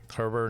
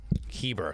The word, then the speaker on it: Herbert: It's spelled Herbert. I keep saying Heber. What the hell's wrong with me? Sorry. He gets it all the time. I know. Just get the R out of there.